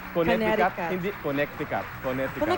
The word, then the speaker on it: Connecticut: Sana pag meron akong naipong pamasahe pupuntahan kita sa Coneticat. It's pronounced Connecticut.